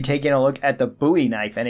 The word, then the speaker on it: Bowie knife: game and people wondering why I call it a buoy knife and not a Bowie knife and usually people cite the reference of David Bowie which kind of makes sense because it is spelled the same way but this knife is named after Jim buoy who fought at the Alamo that would be the correct way to say it however if you want to say Bowie knife then that's perfectly fine too it's just that there